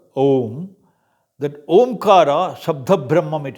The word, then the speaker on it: Om: Omkara, A, U, these principal syllables, they combine together, Om.